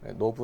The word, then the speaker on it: knob: 합니다 노브 라고 하는데 knob 인데 k 는 묵음 이래요 노브 라고 합니다 지금 보신 뭐 컨트라스트